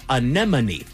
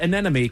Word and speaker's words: anemone: No, it is not. It is anemone. Anyone? It is not anemy cuz that's that's easy to say.